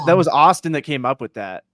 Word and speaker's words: Autsyn: Austin, but it's spelled AUTSYN. It's like spelled Austin.